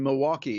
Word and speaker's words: Milwaukee: I understand there's no L in Milwaukee. It's Milwaukee for those that that would be actually live correct, there.